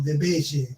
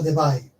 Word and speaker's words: Debye: Estuvo el modelo de Debye, o de Debye, como de Belle, como dicen algunos por ahí en YouTube. En realidad se pronuncia Debye.